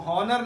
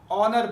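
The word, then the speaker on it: honour: पढ़ते ऑनेस्ट पढ़ते हैं इसको हनर नहीं पढ़ते हम ऑनर पढ़ते हैं इसी तरह इसको हम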